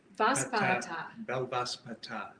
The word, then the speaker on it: Belvaspata: Belvaspata.